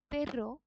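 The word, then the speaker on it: perro: then we have এল পেরো এখানে যে double আর আছে আমরা দেখেছিলাম যে স্প্যানিশ আলফাবেটে এই জিনিসটা রোল আর এর মত উচ্চারণ হয় এল যেটার অর্থ হচ্ছে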